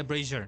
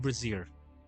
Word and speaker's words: brazier: how Google translates how Google pronounce it braier yeah brazier not brazier why did I say